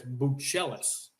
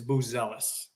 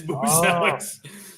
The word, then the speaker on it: Buzelis: know, AK, that his last name should be pronounced properly as Buchelis from the motherland. Yeah. Modest told me, don't listen to AK, it's Buzelis. It is Boozelix.